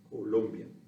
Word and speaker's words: Colombia: So, of course, that's not spelled the same way as the capital of South Carolina, Columbia, right? There's a different spelling, which means there's a different sound. Colombia instead of Colombia, right? Colombia.